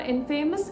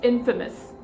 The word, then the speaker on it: infamous: It's not infamous, it's infamous.